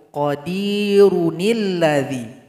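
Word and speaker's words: قَدِيرٌ ٱلَّذِي: Nun kecil baris di bawah menggantikan posisi hamzah washol ketika kita gabung. Nah, coba kita gabung pakai nun kecil ini. Wa huwa ala kulli syaiin qadirunilladzi. Jadi dua cara baca, qadir. Cara baca pertama alladzi ketika memulai. Cara baca kedua digabung, qadirunilladzi.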